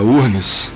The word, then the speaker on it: UFRGS: Ela é professora, como todos sabem, no Departamento de Sociologia da URGS, né? Aliás, URGS, ela começou não se pronuncia o F, porque ela começou como uma universidade estadual do Rio Grande do Sul, não é isso?